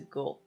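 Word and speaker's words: 後: with other country and then it's pronounced as a go.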